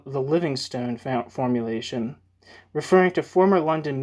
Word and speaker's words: Livingstone: Hirsch has called the Livingstone formulation, referring to former London Mayor Ken Livingstone. Is it pronounced Livingstone? It's Livingstone, but I think it might be pronounced. I think it's pronounced Livingston.